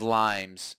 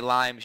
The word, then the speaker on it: Lyme: the bat, or Lyme, I always pronounce it plural. I know, I think everyone does that. They do. I know. I remember every time I'd say Lymes, you're like, you mean Lyme? I'm like, yes, Lyme.